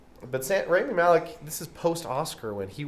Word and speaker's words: Rami Malek: Malek You're Rami Malek.